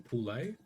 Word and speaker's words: Poole: Is it Poole? Is that how you say it? I got a mate with the exact same. Yeah, it's yep. Poole or.